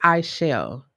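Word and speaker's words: Aichelle: pronounce my name wrong my name is i shall the a is silent so it's a-i-c-h-e-l-l-e right when i was in school there was like a keel r kill i'm like where are y'all getting this r from like there's no r in my name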